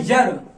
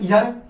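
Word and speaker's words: year: इसका प्रोनाउंसिएशन होता है यर, या सोच के देखो, अगर इसको भी हमने पढ़ दिया ईयर, और ईयर माने होता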